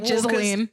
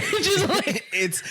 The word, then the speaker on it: Ghislaine: Ghislaine. Well, it's not Ghislaine. Ghislaine.